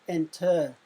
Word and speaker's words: enter: But the final syllable is not stressed, because when we pronounce enter, we say ent.